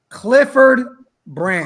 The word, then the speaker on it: Clifford Branch: Say it correctly. Clifford. Clifford. Branch. Clifford Branch.